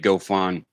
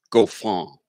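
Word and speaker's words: Goffin: think I finally got David go Phan which is not correct it's David go Fong dahveed go Fong that's what it is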